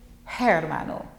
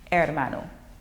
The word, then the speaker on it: hermano: Remember, the H is silent in Spanish. So you don't say hermano, it's hermano.